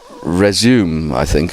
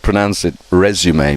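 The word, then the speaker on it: résumé: Okay, Lord Sugar says resume, I think, or but actually he should pronounce it resume because it's a French word.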